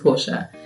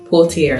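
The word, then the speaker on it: Portia: with my name because my name is spelled p o r t i a which is Porsche there's more than one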